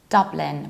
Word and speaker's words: Dublin: pronounce this so this standard British pronunciation is Dublin with the same sound that you have London Dublin however don't be